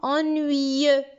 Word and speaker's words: ennuyeux: Donc, ici, nous avons ennuyeux. Qu'est-ce qu'on n'a pas prononcé? Le X.